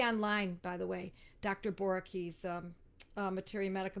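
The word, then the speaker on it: Boericke: Boricki's Materia Medica. Boricki is spelled Boerike.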